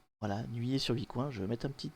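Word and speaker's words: Nuillé-sur-Vicoin: question c'est nuit et alors comment ça se prononce nuillé sur vicoin voilà nuillé sur vicoin je vais mettre un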